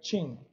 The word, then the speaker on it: chin: Aqui são shin e aqui é chin, certo? Shin, chin.